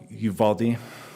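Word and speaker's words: Uvalde: I don't know how to say it sorry Uvaldi there we go the district implemented the policy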